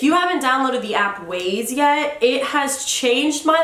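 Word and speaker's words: Waze: my best friend Sarai thought it was called Wy cuz it's spelled w a z e and I was like no stupid it's ways like the ways that you go yeah she's a keeper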